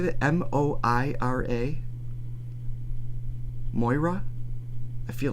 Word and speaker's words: Moira: how youd say it m o i r a Moira I feel like that's right oh yeah Mo Moira yeah I thought you said Moria that's I think that's